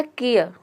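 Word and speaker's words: care: आधा प्रोनाउंस करते हैं, और ई या लास्ट में आया है तो ये मैंने आपको बता दिया कि किसी भी वर्ड के अंत में अगर ई आता है तो वहाँ पे ई साइलेंट रहता है, ई को हम प्रोनाउंस नहीं करते हैं। ये हो जाएगा आपका केयर।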